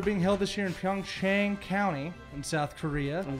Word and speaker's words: Pyeongchang: The games are being held this year in Pyeongchang County in South Korea. I'm glad you said It's- that, because I've not known how to pronounce that until just now. Yeah, Pyeongchang.